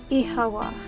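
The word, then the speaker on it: Oíche mhaith: One dialect would pronounce it as Ihawa.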